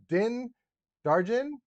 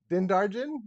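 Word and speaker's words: Din Djarin: we got bo katan i always say his name wrong the mandalorian di din darjen din darjen i'm going to say that then darjen django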